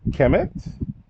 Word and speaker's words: Kemet: So just let you know to pronounce the M at the end. This is Kemet.